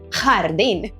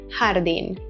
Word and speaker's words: jardín: In Spain, you'll often hear a harsher, more guttural sound, as in the word jardín, but here in Latin America, it's more of a softer jardín.